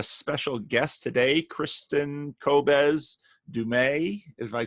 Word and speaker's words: Du Mez: Hi, I have a special guest today, Kristin Kobes Du Mez, if I said that correctly. Close enough. Kristin Close enough. Kobes Du Mez. Du Mez, okay.